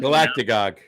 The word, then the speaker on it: Galactagogue: Galactagogue. Galactagogue. Look it up. I might have made it up. Can you spell that?